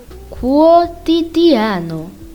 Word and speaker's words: quotidiano: When Q and U is with the vowel A or O, you will be pronouncing the letter U. For example, quadro, quadro. Quotidiano, quotidiano.